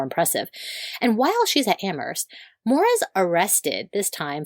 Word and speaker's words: Amherst: Is it Amherst or Amherst? You know, the thing about Massachusetts is they they pronounce everything weird.